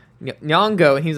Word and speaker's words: Nyong'o: I was like, Nyong'o, and he was like, Nyong'o. And I was like, Nyong'o, and he was like, no, you're American.